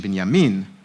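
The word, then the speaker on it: בנימין: To have the name Binyamin, which I'm already pronouncing with too much of an Ashkenaz pronunciation, Binyamin would be in the Hebrew, it's a biblical, old-fashioned Israeli name, almost of an older generation.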